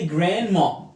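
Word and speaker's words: grandma: خد بالك ما تنطقش الدي هنا. في الامريكان اكسنت بعمل دروب للدي. الدروب يعني ايه؟ ما بنطقهاش. امتى؟ لما يكون قبلها حرف الان وراها حرف ساكن.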